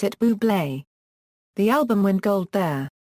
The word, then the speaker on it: Bublé: A campaign featuring Fever was launched before Valentine's Day with a quirky marketing campaign that simply stated "You pronounce it ɓuːbleɪ."